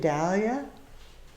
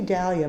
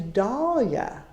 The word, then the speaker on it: Dahlia: second because I see Dahlia most of the time but proper is Dahlia because that's the way the man that named it his name was pronounced Dahlia so those of